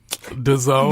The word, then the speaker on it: DAZN: It's DAZN. The zone.